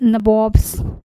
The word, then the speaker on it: nawab: This is the like English accent में pronunciation nabobs, you know what did it mean to be nawab?